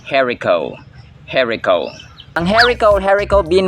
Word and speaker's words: haricot: this type of Bean is pronounced herico herico ang herico herico